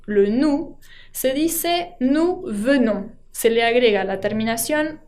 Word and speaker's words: venons: Nous venons tampoco se pronuncia esa S final que tiene la terminación.